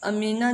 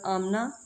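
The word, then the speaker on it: Amina: अक़वाम मुत्तहिदा की deputy secretary general आमना, अच्छा अमीना भी इसको पढ़ते हैं, आमना भी, ये इंग्लिश उर्दू में प्रोनाउंसिएशन का थोड़ा सा फर्क होता है।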